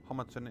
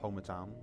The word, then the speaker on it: Homerton: Homerton is next, and I do believe it is pronounced Homerton, not Homertown, or Homerton, or Homerton.